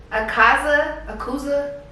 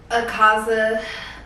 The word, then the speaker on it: Akaza: butcher the name, but I believe it's pronounced Akaza. I don't know. Akaza. I hope I'm saying it right.